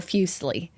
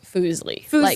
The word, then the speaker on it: Fuslie: at my username and go fusle or like fley or fili or fousy tube and I'm like you're like no it's not CU I I think the last way you do pronounce it without knowing is foosley you like you would